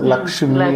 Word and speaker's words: லக்ஷ்மி: இப்போ லட்சுமி லட்சுமி நம்ம சொல்கிறோம், லக்ஷ்மி அப்படின்னு சொல்லி நம்ம சொல்கிறது கிடையாது.